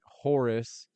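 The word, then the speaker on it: houri: We're going to go to the next question, which is Sim says, "Daniel, if men can get Horus, what about women?" They they pronounce it h o ur i.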